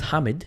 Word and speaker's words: Mohammed: And his name was Mohammed, but the way you pronounce his name is Hamid. So for those of you guys that don't know how to pronounce Mohammed, it's Hamid.